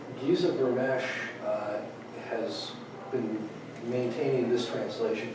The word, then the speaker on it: Vermes: Giza, it's spelled Vermes, but he pronounced it Vermesh for some reason. Giza Vermesh has been maintaining this translation for a very long time.